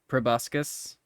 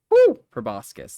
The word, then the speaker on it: proboscis: Great Sand worms uh probuscus for 10 damage proboscis that's how you say it oh no it was